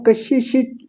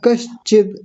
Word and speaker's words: कश्चित: कशिश दुख भवेत मा कशिश ऐसा नहीं होता कश्चित ऐसा बोलिए कश्चित कशिद कशिद कश्चित कशिद बहुत प्यारा उच्चारण है आपका।